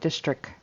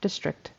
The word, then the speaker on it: district: I didn't hear that final T at all. It was more like district. Um, you got to get that tongue moving forward to the teeth to kind of get that even if it's really soft.